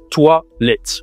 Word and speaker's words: toilette: O i en français, ça se dit wa toilette. OK ?